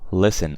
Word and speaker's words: listen: we have listen and listen actually has a missing T okay so listen I don't say listen